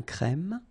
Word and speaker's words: crème: Un serveur, une table, une terrasse de café, un crème, remember, E accent grave, un crème, un noir, un expresso.